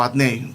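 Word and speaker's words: Adonai: que sería lo equivalente cambia un poco la pronunciación pero es como adoney Ah okay o atne que es este que delimita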